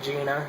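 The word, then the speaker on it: Geina: It's spelled Gina, G-E-I-N-A, but I guess you say it Big Bad Gina.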